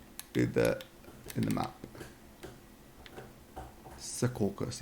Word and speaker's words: Secaucus: that in the map Secaucus yeah well that's how I pronounce it it's spelled that way it might not be pronounced um by New Jersey New jerseyans that way there we go and